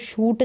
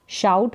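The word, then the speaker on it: shout: चिल्लाते तो शाउट करना इसको शूट नहीं पढ़ेंगे शाउट पढ़ेंगे ओ यू का उच्चारण आऊ करके हो रहा है शाउट और एस एच का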